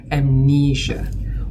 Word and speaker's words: amnesia: So even if the word is spelled s i a is not sia but in this word is amnesia.